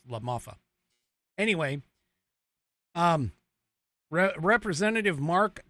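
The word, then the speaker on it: LaMalfa: pronounced that correctly, and Doug La Mafia or La Mafa. I said mafia, but it's La Mafa.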